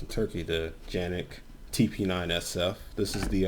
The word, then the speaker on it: Canik: this is the um mechanic or as it's pronounced in turkey the yannick tp9 sf this is the um one series